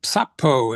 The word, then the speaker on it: Sappho: that we think was written by Sappho or Sappho as we pretty sure she might have pronounced it based on what we know about their dialect of Greek from back then.